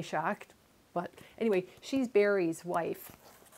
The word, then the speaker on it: Schacht: I took German in high school, so Schacht would, I think, be the correct pronunciation of that. So that's why I say Schacht.